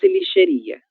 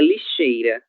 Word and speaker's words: lixeira: Color liia quase escass lixeria é lixeira. OK. A letra I ela está em outra posição.